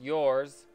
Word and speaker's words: URS: URS, pronounced yours, is a revolutionary new collectible created by a global team based in Korea, US, and Germany.